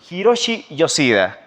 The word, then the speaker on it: Hiroshi Yoshida: Lo voy a presentar, está con nosotros el señor Hiroshi Yoshida. ¿Está bien pronunciado?